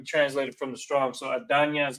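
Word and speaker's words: אדני: So Adanya is how it's pronounced there.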